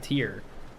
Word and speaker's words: tier: mini which is wrong say Rapier Pier tier no TI one who ties but tier he I've never heard TI